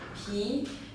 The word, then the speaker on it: 皮: This character is pronounced as p, p, and as a noun, it basically means the skin of something, the peel of something.